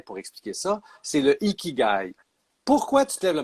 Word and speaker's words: Ikigai: un mot japonais pour expliquer ça, c'est le ikigai.